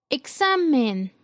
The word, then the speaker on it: examen: Examen. La sílaba con mayor fuerza es la penúltima sílaba.